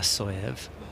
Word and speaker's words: Tasoev: me to say that the s in uh is pronounced sh so she Birds she perch yeah she puts stand correct Ive effort there from the soyev past the defense of